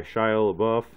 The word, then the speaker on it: Shia LaBeouf: Tom Hardy, Shia LaBeouf, that's how you say it.